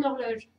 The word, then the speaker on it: horloge: Donc du coup, celui-là, le H, là déjà, je vais l'oublier parce qu'il ne se prononce pas.